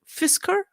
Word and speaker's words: Fisker: struggling American EV company fisa am I pronouncing right FIS Fisker Fisker they is yeah according